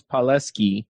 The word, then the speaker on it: Palleschi: want to say palesky you said it wow okay not many times people get that the italian pronunciation right but you did this